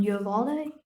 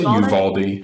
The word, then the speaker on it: Uvalde: Uvalde? I say Uvalde.